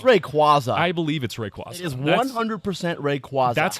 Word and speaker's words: Rayquaza: Did you know that apparently Rayquaza is pronounced Rayquaza? Rayquaza? Yeah, it sounds so wrong to me.